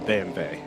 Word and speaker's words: BMW: of me to start calling it a bve a what bve the German pronunciation of BMW yes it would yeah